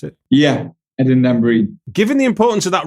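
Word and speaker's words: Dambrine: Do I pronounce it? Yeah, Eden Dabrin.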